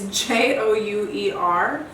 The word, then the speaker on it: Jouer: All right, so now I'm going to take, I think that you pronounce this Jouer. It's Jouer. It's a French company, and it's their highlighter in rose gold.